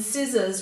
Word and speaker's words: scissors: In scissors, we've got that double S and the S at the end making the Z sound, whereas that SC at the start is making the S sound.